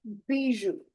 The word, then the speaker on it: bijou: Le bijou. OU is ou.